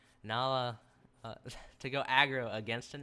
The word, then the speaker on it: Nahla: Now, I think this is a smart decision from Nahal. Is that Nahla? God, I keep getting their name wrong. Nahla, to go aggro against an anti-mage, and they don't really want to have a tri-lane against Undying.